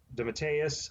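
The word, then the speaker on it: DeMatteis: and plotting jam uh the matteus i believe is how you say it was actually did the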